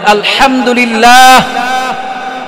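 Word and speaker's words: الحمد لله: তাহলে এটা সঠিক উচ্চারণ কি হবে? বলেন আলহামদুলিল্লাহ।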